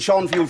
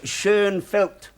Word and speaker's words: Schoenfeld: Some of you may pronounce it Schonfield for convenience, but the correct way is Schoenfeld. The name and the spelling are German.